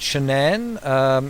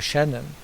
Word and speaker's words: Shan'ann: bit of discussion around Shannon and and she says you pronounce it like shenanigans and what's quite interesting